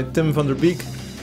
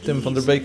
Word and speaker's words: Tim van der Beek: background was written by Tim van der Beek, which is his name pronounced in English, Tim van der Beek in Dutch.